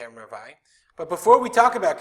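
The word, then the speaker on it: רבעי: We're going to deal with Ravai. That's what we pronounce it, Ravai.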